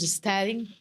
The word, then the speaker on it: Stehling: Sting. Falei certo? Falou certíssimo. Porque é uma pronúncia assim, né?